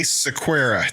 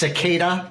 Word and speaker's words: Sequeira: This is Anthony Sequeira. Did I pronounce that right? You did, yes. Awesome. In Welcome. Portugal, I guess it's pronounced Sequeira, but I just go with something a little easier.